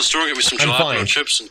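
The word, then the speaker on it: jalapeño: The J's like an H, Ricky. Jalapeno. Not jalapeno.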